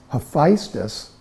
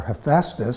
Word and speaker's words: Hephaestus: This Hephaestus, or Hephaestus, some people pronounce it that way, is what in Greek is Vulcan in Latin.